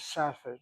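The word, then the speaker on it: Safed: But al the word is in English pronounced as safet.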